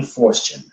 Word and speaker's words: Forstchen: His last name is spelled Forstchen. William Fortune.